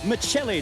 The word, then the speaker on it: Michelli: And the winner of the HQ scratch race, Michael Michelli. Did I pronounce that right, Michael? Exactly right, mate.